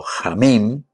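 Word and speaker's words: חיים: Recordemos también desde el aspecto cultural y del aspecto de un contexto antropológico del hombre, en la mentalidad semita, la vida, Jaim, Jaim, pronunciado Jamim, era símbolo de bendición, era símbolo de plenitud, símbolo de familia, longevidad, justicia y sobre todo comunión con Dios.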